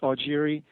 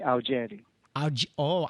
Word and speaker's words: Augeri: first podcast is it is it or or or am I saying it right or is it Airi Americanized it's Airi and the Italians from Sicily say AI a oh which actually sounds nicer